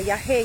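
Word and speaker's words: yagé: They believe that essentially these plants like ayahuasca, the yahe, yahecito, the way they call it, it's spelled Y-A-G-E, are really a link between the earthly plane and the godly plane, the plane of the gods.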